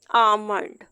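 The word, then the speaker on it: almond: तरह आलमंड अलग है अरमंड ल प्रोनाउंस नहीं किया जाता तो अगर एल लिखा हुआ और है तो इस सूटों में ल हमेशा साइलेंट कंसीडर किया जाता है अब इसके बाद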